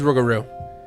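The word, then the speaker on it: rougarou: Okay, it is Rugaroo. I was trying to bounce around that um pronunciation.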